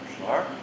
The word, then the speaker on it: clerk: Clark? Spelled C-L-E-R-K, pronounced Clark.